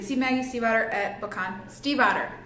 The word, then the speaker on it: Stiefvater: Stiefvater, just by the way. Because they really didn't even address that at BookCon. They were just like making fun of how nobody knows how to say her last name. If you listen to the audiobook, it says Stiefvater. Well, and she, super awesome, somewhere on the interwebs, she actually says it for you and like gives